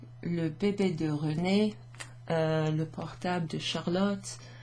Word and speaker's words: René: Bébé, René, that's that A sound.